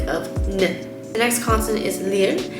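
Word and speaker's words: 리을: the next consonant is lyr the way you pronounce this one is uh it has a r and l type of sound to it the way i remembered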